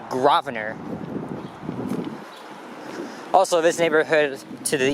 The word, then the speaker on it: Grosvenor: to pronounce that street well it has an s in there but the s is silent it's not grosvenor it's actually gravener also this neighborhood to